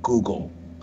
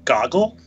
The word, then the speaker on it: Google: someone was talking about Google. And, like, we kept saying goggle. Because, like, at this point, Google had just launched as a search engine. So, like, we didn't know how to pronounce it.